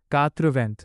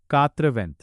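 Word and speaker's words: quatre-vingts: French में चार को कात्र बोलते हैं और 20 को वेंथ बोलते हैं। इसीलिए एटी का ओरिजिनल फ्रेंच में प्रोनाउंसिएशन ही होगा कात्रवेंथ। तो बोलिए कात्रवेंथ। यानी एटी के मामले में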